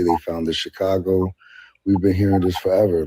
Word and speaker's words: Chicago: If you even and Chicago isn't even pronounced that way. It's Chicago.